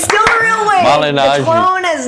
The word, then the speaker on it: Malignaggi: Paulie Malignaggi. Malignaggi, baby. Oh, that was good. Say it, Wade. Paulie Malignaggi. It's still a real way. Malignaggi. The clone is not. See, I forgot it again. Malignaggi.